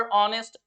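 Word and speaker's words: honest: जो हा से स्टार्ट हो वहां पर हा साइलेंट नहीं होता है फिर कुछ लोग क्या करते हैं अवर ऑनेस्ट ओनर और इनको सिख कर परी को भी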